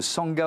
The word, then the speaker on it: Sangha: êtes la fondatrice de Sanga hôel ça s'écrit S a NG ça se prononce Sanga ça veut dire quoi